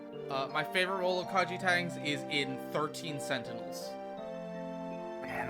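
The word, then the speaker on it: Kaiji Tang: Also, OJ, I think it's Kaji Tang. That's right. That's how you pronounce it. Or KG Tang.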